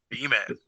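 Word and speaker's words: Beaman: A and the man sometimes it's just said bman it's b e a m an so uh bman bman apparently it's their mascot some a guy they knew they called the bman uh not the bman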